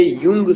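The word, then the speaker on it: Jung: युंग से संबंधित है जे साइलेंट हो जाता है और प्रोनंसिएशन क्या होता है यू एनजी तो लिबिडो या साइको एनालिसिस किससे संबंधित है सी जे युंग से संबंधित है ये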